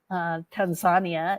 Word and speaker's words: Tanzania: so as I went to Tanzania Tanzania is how they pronounce it I brought my